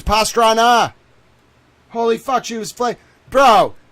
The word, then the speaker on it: Pastrana: It's not Pastrano, you moron. It's Pastrana.